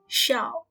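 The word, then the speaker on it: 驍: strong horse pronunciation is like shout but without t in the end so it will be like xiao and then waste the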